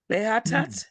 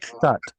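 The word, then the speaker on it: לחטאת: And Le Ash at at Lehatat? Is that There's a chet here. Are you pronouncing the chet? like Lechatat.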